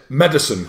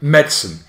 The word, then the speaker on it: medicine: Some people pronounce it medicine, three syllables. It's a big fat no. It's two syllables. You say medicine.